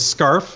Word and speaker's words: Scarf: It's Scarf, as in what you wear in the winter.